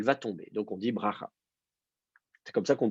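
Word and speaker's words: ברכה: Et donc, du coup, en hébreu, l'antéprétonique tombe, la voyelle. Donc, le A qui est sous le bet, baracha, elle va tomber. Donc, on dit bracha.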